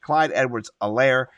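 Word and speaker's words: Clyde Edwards-Helaire: myth the legend c-e-h clyde edwards elaire the h is silent if you didn't know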